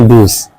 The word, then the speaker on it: Deus: Tulisannya Deus, bacanya Dus.